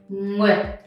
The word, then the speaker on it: Nguyệt: So with this one, again, you see NG. With NG, try to open your mouth first. And you see a lot of letters here, right? You pronounce all of them. So it's U, I, E, with. The dot makes it super short. That means that you barely can hear the T.